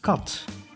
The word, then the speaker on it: kat: is pronounced short when the end of the syllable is is a consonant like in cot which means cat and plural cotton the extra